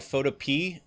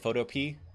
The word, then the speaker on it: Photopea: So that's called Photopea. I think that's how you say it, Photopea.